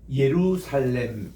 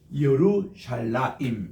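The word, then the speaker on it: ירושלים: 들면 우리 그 유명한 예루살렘 이럴 때에 자 이게 루 샬 라임인데 우리 한번 따라합시다 요즈 러쉬 이렇게 해서 우리가 정확하게 발음할 때는 예루살렘이라는 말보다도 요루 샬라 임 요게 정확한 원어의 발음입니다 보세요 예 요드에 요거는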